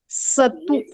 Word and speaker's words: सतु: ये जो है ना, केवल ये शतु सतु स बोलना है, ये दंती स है, इसका प्रोनाउंसिएशन दांतों से आना चाहिए, ठीक है? सतु। और श या श नहीं बोलना है, स बोलना है, स।